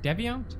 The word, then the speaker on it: Deviant: took the knife yeah you guys kept saying I pronounce Debian wrong Debbie aunt Debbie aunt Debbie yawns that's how you say okay sure no one